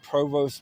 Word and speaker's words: provost: I said provost marshal last time. It's spelled provost, but it's actually pronounced provo.